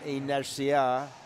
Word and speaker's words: inercia: Speaking of radar, speaking of learning, la palabra inercia. Inercia. Acento en la E. Acento sobre E. Muy bien. Penúltima. Inercia. Sí. Sobre penúltima. Penúltima.